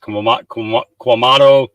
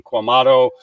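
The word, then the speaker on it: Quemado: Okay, so let's get our logistics correct here, and not be Quamato, I believe it's pronounced Quamato, Texas, Queumado, Texas.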